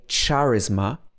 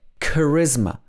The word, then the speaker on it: charisma: in charm charm but in charisma it's pronounced as a silent h so we don't say charisma or charisma we say charisma charisma in this case